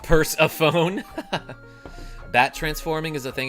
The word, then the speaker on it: Persephone: Actually, it's pronounced purse-a-phone.